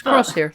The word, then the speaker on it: Crosshair: It's Crosshair, like a gun. Crosshair. So. It's their accents, Kyle. We don't have those weird accents that the clones have. We have a Scottish accent. Yes, Crosshair.